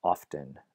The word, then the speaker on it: often: a spelling pronunciation right that T was actually dropped hundreds of years ago but because it continues to be spelled people will often pronounce it right so you say often there notice if you